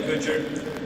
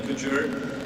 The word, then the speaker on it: Couture: Kevin Couture we say I think you said Kevin Kutcher we're Canadians we give up the French pronunciation Kevin Couture he was my go-to